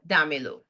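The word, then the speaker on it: dámelo: the command right so we have damilo and an accent on the a to keep the stress there I'm sure that you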